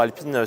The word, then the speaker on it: Alpine: En japonais, on dit Alpine.